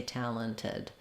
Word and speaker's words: talented: slowly talented but definitely I would never say it without the T if I was saying the word slowly I would say talented um if you're going